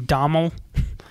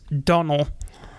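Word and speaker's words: Domhnall: was pronouncing his name Domnhall? Apparently in Ireland, you don't say the N's. The M's. You say the N's, but you don't say the M's. So it's Donnell.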